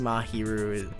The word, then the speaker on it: Mahiru: Mahiru? Or Mahiru? I don't know. It's pronunciation key. I think Mahiru it's just pronouncing the letters that are there.